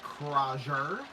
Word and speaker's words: Crozier: Max Crozier, as it's pronounced.